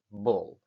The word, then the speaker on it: ball: Hey, Kino, que te estás equivocando, que aquí pone una A y estás pronunciando una O. Sí, sí, ya sabéis que una cosa es cómo se escribe y otra cosa es cómo se pronuncia. Y ya sabéis perfectamente que esta palabra se pronuncia ball.